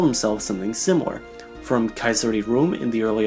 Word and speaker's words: Caesar: themselves something similar, from Caesar di Rome in the early Ottoman Empire, to the Kaiser of Germany, to being pronounced more like the word seizure in French and English, to a salad dressing in Tijuana.